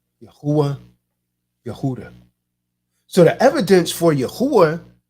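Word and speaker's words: יהודה: ends in the uh a8 sound right yahuwah yahooda so the evidence for yahuwah based on yahudah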